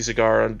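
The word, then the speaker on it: Segar: he signed an autograph he would sign his name with like a little cigar with a trail of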